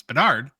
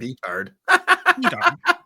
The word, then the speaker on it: Bedard: We hired a British punk band because they obviously could not pronounce Bedard, but B-Dart.